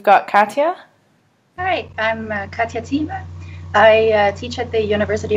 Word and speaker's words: Thieme: And my Twitter handle is @Katya_Thieme, which is a German name, hard to remember and pronounce. It's pronounced Thieme, Thieme.